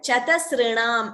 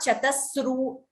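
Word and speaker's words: चतसृणाम्: And Chatasrinam, it is not Chatasru. There is no extra su there. It is not Ra also. It is R, like Rishihi, Rituhu, like that. Chatasrinam.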